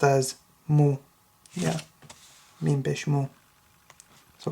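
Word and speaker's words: مُ: is Bish is a just think of it like a u sign so mean Bish is pronounced as Mo yeah me Bish Mo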